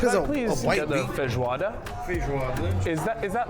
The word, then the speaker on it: feijoada: So if I'm not mistaken, the national dish is pronounced feijoada. Feijoada. Feijoada. Feijoada. I don't know. My Portuguese isn't great.